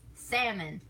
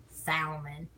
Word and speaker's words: salmon: she says salmon it's salmon it's salmon here we don't pronounce the L in that word and she says Salman and I mean it's